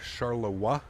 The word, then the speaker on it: Charleroi: uh by the way you pronounce Charleroi like charlois oh like Charlotte like French it's not King in